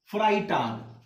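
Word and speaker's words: Freitag: next FRAE, ध्यान रहे, FR के बाद ए और ई साथ में आ रहा है, तो अभी हमने यहां पढ़ा ना कि ए और ई जब साथ में आता है तो आई प्रोनाउंस करते हैं, सो FR के साथ आई आ गया तो फ्राई हो गया, क्या हो गया, फ्राई,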